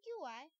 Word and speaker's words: Qi: There are various wireless standards like Qi, which is written QI but pronounced as Qi of WPC.